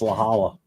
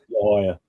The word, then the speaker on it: La Jolla: No, it's La Jolla. See, I know that. It's not. It's like El Cajon, It's not.